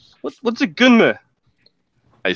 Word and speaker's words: Gunnm: Gunman? What's a gunman? I spell it Gunnm. What is this? Nani? Say it again. Nani? Gunnm.